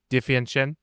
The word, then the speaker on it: DiVincenzo: DiVincenzo? How do you say the last name? DiVincenzo. DiVincenzo.